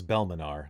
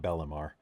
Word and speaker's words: Belmanar: I just realized that because of my accent, I was pronouncing it wrong. It's Belmanar, not Bellamar.